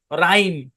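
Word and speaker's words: rhyme: উদাহরণটা আমরা সেকশন ফাইভেও দিছি এখানে এইচ টা সাইলেন্ট রাইম আমরা কি বলছিলাম ওয়াই এর পরে কনসোনেন্ট শেষে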